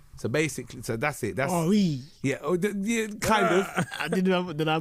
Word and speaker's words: Aurie: That's Aurie. yeah, kind of. Did I butcher that? No, it's fine. It's fine. She spelt it a French way. We don't pronounce it that way.